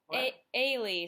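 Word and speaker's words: Elie: li e and it was amazing but it's pronounced Whaley so that sucks but that's okay because it's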